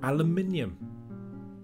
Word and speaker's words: aluminium: The British also say aluminum, but in American they say aluminum. Just taking the eye out of aluminium changes the number of syllables and the pronunciation.